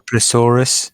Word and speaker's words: plesiosaur: Is it a plesiosaur or is it a plesiosaurus? Because I was calling it plesiosaurus the whole time. It's a Now, plesiosaur.